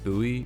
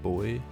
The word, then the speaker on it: buoy: of course here is a buoy or a boy depending on where you're from personally I'm not a